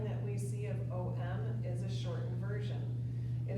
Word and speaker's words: Om: So when we chant M, we will start with a big a wide open mouth at the back of the throat.